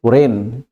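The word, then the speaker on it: reign: over here okay next word is रेन शासन करना again when we वी आर प्रनं सेटन ग सो रेन again जी इ silent over here next is फेन फेन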